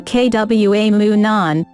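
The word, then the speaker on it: Tahquamenon: women in Falls 2 Kwa moon on rhymes with phenomenon is a beautiful and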